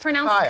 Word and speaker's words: Keil: But it's pronounced Kyle. Kyle, spelled Keil.